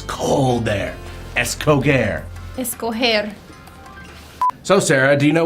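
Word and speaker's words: escoger: So, the first word we're going to memorize is escoare. And it means to choose. Escoer. Whatever she said. So, escoare sounds like it's cold there.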